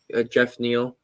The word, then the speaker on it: Geoff: But he lost to Geoff Neal, Jeff Neal.